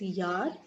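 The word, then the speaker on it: Jahr: alphabet, we saw that it's called yacht. Therefore, J in English, in German, is always associated with y sound. Okay, therefore it's yar and not yar. And again, this H is silent because it follows a vowel.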